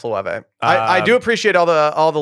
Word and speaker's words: Loewe: Lueve. Loewe. There it is. It's pronounced Loewe.